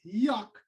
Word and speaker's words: Joc: For me, it's Jock. All right. It's pronounced Yuck.